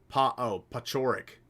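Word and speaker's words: Paciorek: Is it Pesiorek? Pachorik. Tom Pachorik, chat.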